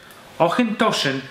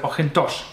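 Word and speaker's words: Auchentoshan: Jednym z takich obszarów szarości jest wymowa nazwy Ochyntoszyn. Każdy, kto był w Szkocji, mógł słyszeć ją właśnie pod tą nazwą Ochyntoszyn, jednak w oficjalnej polskiej komunikacji pojawia się nazwa Ochyntoszyn. Sprawa jest bardzo skomplikowana i rozjątrza wyjątkowo mocno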